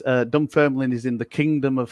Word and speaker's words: Dunfermline: Drake means rubbish weather here in Dunfermline. Yeah. So okay. So there you go. It is Dunfermline. It is Scotland. Dunfermline. Okay, Dunfermline. Dunfermline. The extra syllables.